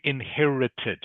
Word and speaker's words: inherited: Okay, instead of saying I, and you are almost correct with the past tense, I inherited is how you pronounce it.